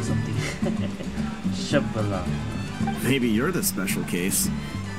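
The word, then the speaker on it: Xbalanque: Yeah, Shibalanke, that's how you pronounce it. Yeah, I remember that story. My grandpa spelling. Told it to me when I was a little kid. I thought it was pronounced on X balance or something.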